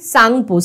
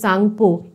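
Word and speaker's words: Tsangpo: টিবেতে এর নাম কি সাংপো সাংপো সাংপো স্পেলিংটা একটু খেয়াল করো শুরু কিন্তু আছে টি দিয়ে TSANPO কিন্তু টিটা কিন্তু প্রনাউন্স হবে না মানে উচ্চারণ হবে না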